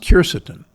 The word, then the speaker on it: quercetin: How about polyphenols like resveratrol and quercetin, sometimes pronounced quercetin?